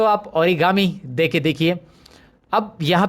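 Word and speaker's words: origami: यहाँ पे आपको इंटरेस्टिंग और है, ये वाला देखिए, ऑर्गेमी, सॉरी, ओरिगामी, ये मुझे बोलना है। Okay, now आई गॉट the correct pronunciation.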